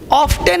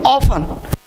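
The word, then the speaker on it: often: ऑफ्टन नहीं, ऑफन।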